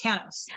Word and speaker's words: Tanous: for having me christina and it's actually uh pronounced thanos okay i was just about to say that